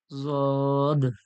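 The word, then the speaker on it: ض: সদ জদ, জদ জদ, জদ। জদ এর মাখরাজ, এটা কিভাবে উচ্চারণ হচ্ছে, কোথা থেকে উচ্চারণ হচ্ছে, সামনের সবকে রয়েছে, সেখানে আরো ভালো করে বোঝানো হবে ইনশাল্লাহ।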